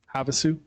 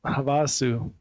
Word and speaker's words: Havasu: Finally pronounced it correctly. Havasu. I still messed it up. Havasu.